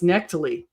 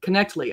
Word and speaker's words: Knechtle: So, it's Knechtle, really? Okay, so I guess we have a different pronunciation here. So thank you, Kip, for correcting me. It's Stuart and Cliffe Knechtle.